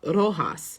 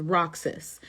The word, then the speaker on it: Roxas: Miss Universe Philippines, when we were talking about Rojas, the city Rojas, I pronounced it as Roxas.